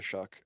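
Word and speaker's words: Shough: Tyler Shock. Yeah. Is that how is that how it's pronounced? Yeah. Yeah. Okay. It's It's like s h o u g h, right?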